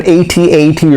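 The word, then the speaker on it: AT-AT: she lives in an atat or at at it's pronounced both ways in the star wars universe she takes the parts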